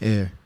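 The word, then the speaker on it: heir: youngest son has the middle name air I just spell air it's not it's spelled h-e-i-r or like like royalty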